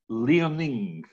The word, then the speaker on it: Liaoning: But I think it's spelt, or I would pronounce it, Liaoning.